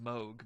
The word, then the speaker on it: Moog: So basically, if you know synthesizers, you probably heard the name Moog or Moog. Yeah. Correct pronunciation Moog, but yeah, give us some information here.